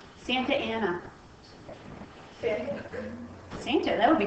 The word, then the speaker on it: Santa Anna: isn't it pronounced Santana? Santa Ana.